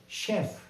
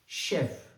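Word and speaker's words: chef: अगला शब्द है शेफ। सी एच ई एफ शेफ।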